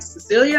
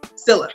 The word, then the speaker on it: Scylla: Celia. There, Celia. Always mess up. I'm sorry. Scylla. Got it. Scylla.